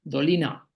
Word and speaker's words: Doliner: Es el mismo apellido, es un apellido alemán, pero en alemán se pronuncia Doliners, en alemán se pronuncia Dolina, Dolina.